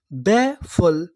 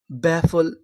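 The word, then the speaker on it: baffle: English का एक rule होता है, अगर आपको किसी भी मीनिंग के आखिरी में ई लिखा मिले तो हम लोग ई का उच्चारण नहीं करते, हम लोग ई से पहले तक का उच्चारण करते हैं।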